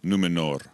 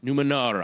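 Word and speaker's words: Númenor: island kingdom of numenor well-pronounced r on the end numenor numenor i don't want columbia bursting and kicking me in the teeth can you uh tell us a little bit about numenor and its history numenor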